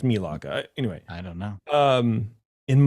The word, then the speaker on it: Melaka: It's Melaka. Anyway. I don't know. In Malaysia. It's pronounced Malaysia.